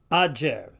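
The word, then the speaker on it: agger: starting to sound familiar, sounds more like the DJ in our word adjust. So the Latin word for a heap of something, spelled A-G-G-E-R, is pronounced ager.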